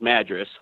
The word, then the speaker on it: Madras: and the correct pronunciation of Madras Oregon is Madras by the way it's spelled the same way oh yeah we get